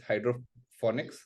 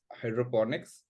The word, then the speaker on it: hydroponics: Hydroponics mean so Hydroponics a lot of people uh actually mispronounce it as hydrophonics but Hydroponics so it's basically Hydro